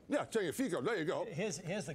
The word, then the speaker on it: Tagliafico: your favorite player, the left fullback from Ajax, pronounce his name. What's his name? Tagliafico. Yeah, Tagliafico.